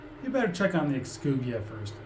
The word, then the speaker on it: Exuvia: I probably butchered that. I think it's Exuvia, Yeah. but I don't know for sure. Too quiet. Surely someone's gotta be guarding something as important as the Exuvia. Oh, we were both kind of right. I mean, you pronounce the X enough.